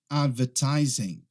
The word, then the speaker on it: advertising: Se você tiver um sotaque americano, muito provavelmente você não vai pronunciar aquele G no final. Você vai falar advertising, advertising, advertising, tá? Mas no inglês britânico é muito comum que se pronuncie aquele G no final e que não se pronuncie aquele R.